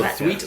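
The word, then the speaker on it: Thweatt: I would need to twet like tweet yes exactly so so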